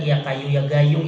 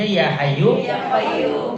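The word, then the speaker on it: يا حي يا قيوم: Ada aki-aki asal wiridan ya kayu ya gayung ya kayu ya gayung. Dia dengerin gurunya. Padahal gurunya bacanya ya hayyu ya qayyum.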